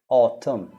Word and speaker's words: autumn: silent in a word n is silent after m like o or autumn autumn autumn all right autumn